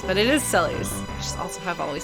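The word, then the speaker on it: Celes: pronounce various names and they came to the conclusion that Celie and Sulli's were pronounced basically like very similar like it's just the difference between like and like scary and serious ooh so at least I can say that the Japanese fans pronounced it that way but some people get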